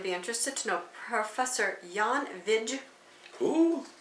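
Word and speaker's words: Jan Vijg: interested to know Professor Yan VI who Yan VI Yan v v i j g you don't pronounce the J like that no VI he's a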